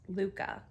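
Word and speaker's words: lykke: looked that up because I wasn't sure how to pronounce this but it's Luca is how you pronounce it so it comes with 12 pairs us four all the way to us 17.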